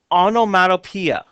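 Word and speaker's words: onomatopoeia: it looks like a really weird word it's pronounced Ono onomatopeia and that's a word that makes the sound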